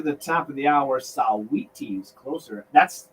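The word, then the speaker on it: Saweetie: taking us to the top of the hour saw wheaties closer that's how you pronounce it and american heartbeat by survivor right here on wmo moot92 i'll see you at trivia time 4 15.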